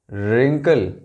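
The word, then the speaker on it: wrinkle: यहां देखें आप, W सभी साइलेंट है, W W W W एंड W। यह है right, wrong, wrist, wrestler, रिंकल।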